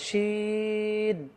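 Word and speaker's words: شين: তো আমি আরেকটি ছোট হাতের সিন লিখে ফেললাম, কিন্তু উপরে নুক্তা দেওয়ার কারণে এটা আর সিন রইল না, এটাকে শিন মোটা করে বলতে হবে, শিন।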